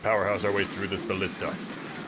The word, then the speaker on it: ballista: our way through this ballista or ballast day as some might pronounce it cool got that side